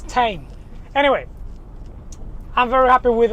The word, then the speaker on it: TEIN: And it's pronounced Tein because it's technical innovation. That's what it stands for. So it's Tein.